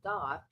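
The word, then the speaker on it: daith: ear is C called it's not called a doth that's what the piercing is called and it's spelled D AI t h so it's not spelled like it sounds because it looks like da if you see it written out but it's do so it's it's like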